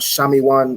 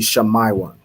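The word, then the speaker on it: Shimon: be shamay one right wherever you see the letter i you want to pronounce it as I right it's not shamian or um anything else it be shamai one right shamai one excellent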